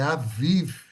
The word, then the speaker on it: Aviv: Aviv se escreve a Bib na Bíblia em português, mas é Aviv que se fala, tá?